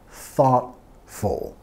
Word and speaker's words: thoughtful: Y vamos a enfatizar la primera sílaba. Thought, thoughtful, thoughtful.